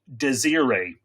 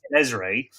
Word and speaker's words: Desiree: So I call this lady Desiree. It turns out that from day one, I was pronouncing her name wrong. Her name, of course, is Desiree.